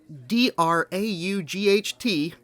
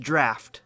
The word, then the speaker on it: draught: surprising surprise we discovered that the the word DRA ugh T is pronounced draught this is one of those words that should